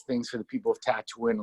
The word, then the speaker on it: Tatooine: lot of nice things for the people of Tatooine, like feeds the poor and stuff, and is nice. Did you call it tattooing? Tatooine.